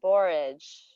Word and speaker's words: borage: Borage, borage. What is a word that rhymes with borage? Anybody? Yes, Leah. Courage. Oh yes, I love porridge. Yes, it also rhymes with porridge. But it's courage.